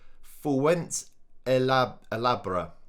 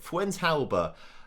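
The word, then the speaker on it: Fuentealba: properly have i nicholas fuente ella albert i'm going to have to say that properly at some point fuente alba i've got it right sorry for everybody who's got across me for saying it wrong well episode long four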